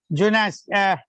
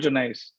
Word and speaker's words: Junais: Junas. How you will pronounce? Otherwise, you will again correct me, Professor Agrawal. Okay. It's Junais.